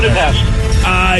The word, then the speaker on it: Budapest: Budapest? Is that how you say it with a shush?